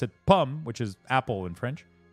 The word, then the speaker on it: pommes: You don't pronounce pommes. You don't add an S at the end. You just pronounce it the same way, even if there's an S in plural.